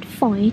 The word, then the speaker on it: Fowey: We pronounce it Fowey to rhyme with joy.